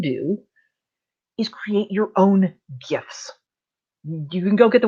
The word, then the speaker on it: gif: it as a gif gifs will play yes i'm a hard g gif person you know come at